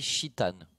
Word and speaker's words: Titan: Je pense à Titan, notamment, du côté de Karma. Alors, il paraît qu'il faut prononcer Chitan.